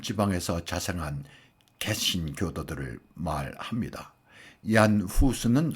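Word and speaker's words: Jan Hus: 모라비아는 누토의 종교계혁 이전의 개혁자이고 순교자인 얀 후스를 추정하던 사람들로 보에미안 지방에서 자생한 개신 교도들을 말합니다. 얀 후수는 흔히 존수라 영어식으로 발음하기도 하고 보에미안 지방은 지금의 체코 언저리를 말합니다.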